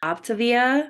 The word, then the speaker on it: Optavia: more reactions and today I have some Arbonne optivia oh I think I said it right that